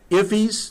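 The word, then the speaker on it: IIFE: They talk in here, notice towards the end, ifs, that's the way this is pronounced, that's in immediately invocable function expression.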